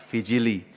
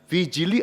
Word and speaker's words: vigili: persis tempat yang benar yang persis benar adalah namanya vijili tulisannya vigili ya v i g i l i dibacanya vijili vijili artinya berjaga-jaga Jadi kalau